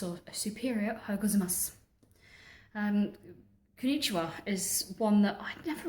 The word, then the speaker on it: konnichiwa: What people don't realise is there's actually two N's in konnichiwa. So you actually have to pronounce them konnichiwa.